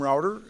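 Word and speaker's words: Rowader: you mayor good morning my name is jim router that's spelled r-o-w-a-d-e-r and i just want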